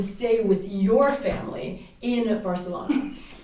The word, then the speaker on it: Barcelona: pronounce it correctly for the... Barcelona.